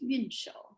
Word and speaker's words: Yunshou: But the original word really is Yunshou. It's the same pronunciation with a different tone, and it's a different character.